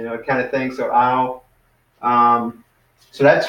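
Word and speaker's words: αυ: And then alpha upsilon would be ow. So that would kind of like a cow, like this.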